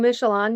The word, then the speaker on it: Michallon: Yes, so last name Michelon, universally acknowledged as a name that is absolutely impossible to pronounce.